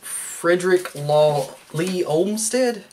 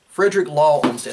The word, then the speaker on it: Frederick Law Olmsted: For instance, Frederick Law Lee Olmsted? Frederick Law Olmsted, I said it right the first time.